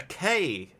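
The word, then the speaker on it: cay: Where would you find a landform called a K? K is spelled C-A-Y.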